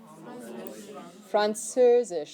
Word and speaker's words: Französisch: Französisch.